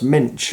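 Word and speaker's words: Moench: Written by Doug Mensch. Apparently it's pronounced Mensch.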